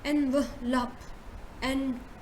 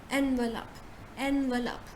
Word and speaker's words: envelope: You say envelope, you bring w sound in between, so you say envelope, envelope.